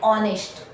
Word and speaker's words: honest: An hour, an honor, an honest. આ બધામાં H silent છે એટલે આર્ટિકલ N યુઝ થાય.